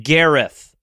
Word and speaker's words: Gareth: From the Headgum Studios in beautiful Silver Lake, it's Segmental, starring Gareth Reynolds. On today's show, Sorry, an interview Josh. with what's up? Sorry. Gareth. It's Welsh.